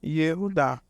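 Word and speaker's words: Yehudá: Então, temos na primeira sílaba Yehu. E logo em seguida, da direita para a esquerda, você vê aí a segunda sílaba, que é Dá. Ou seja, Yehu Dá.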